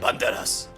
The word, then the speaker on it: Banderas: Banderas. Banderas, like you say it in Spanish.